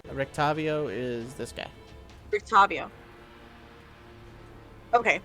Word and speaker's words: Rictavio: Rictavio is this guy.